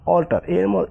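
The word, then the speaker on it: alter: উচ্চারণ অল্টার, অল্টার, অর্থাৎ এ এল টি ই আর, অল্টার। এর পরে কি এলটি আছে, যার কারণে এর উচ্চারণ অয়ের মতো হয়েছে। আবার এখানে যদি এর পরে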